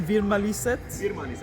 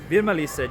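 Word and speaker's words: Virmalised: uh virmali said enroll correct me on the pronunciation veer mali sits virmali said yes so this is like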